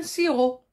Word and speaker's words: sirop: ripa noble art et ensuite un sirop quand je suis malade je prends un sirop il se termine par une lettre miettes la lettre p ensuite la lettre s